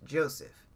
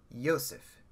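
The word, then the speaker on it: יוסף: Joseph, I believe in Hebrew, isn't pronounced Joseph. It's pronounced with a Y sound. It's pronounced Yosef.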